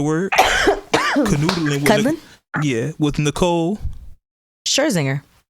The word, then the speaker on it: Nicole Scherzinger: Somebody pronounce her name for me. Nicole Swisher. I gotta look at her name real quick. It's Swisher. It's something. I don't know. Anyway, Scherzinger. Okay, that sounds good. So whenever it's time to say her name, we'll point to you. So look, Nicole Scherzinger. There we go.